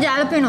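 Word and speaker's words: jalapeño: It's not jalapeno, it's jalapeno. jalapeno. చెప్పండి. జాలపినోనే కదా? Jalapeno. జాలపినో కాదా? Pronounce it a. Then why did they put J? Chuma. Silent. Silent, J silent.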